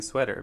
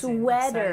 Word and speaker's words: sweater: City, exciting, Exciting, sweater. exciting. Here we have Sweater. a T between 2 vowel sounds like I mentioned, and it's changing to a D. It's not a T sound. Sweater. It is D.